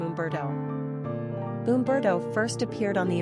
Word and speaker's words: Humberto: number of syllables three ranking popularity not applicable pronunciation Umberto simple meaning famous warrior characteristics of Umberto social